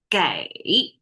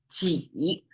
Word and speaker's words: 给: Now, 给 is normally how this character is pronounced. But in this case, when it's right after 公, it becomes 给, and 给, I translate as enough.